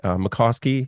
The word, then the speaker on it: Mickoski: And my special guest today is Howdie Mikoski. Am I pronouncing that right?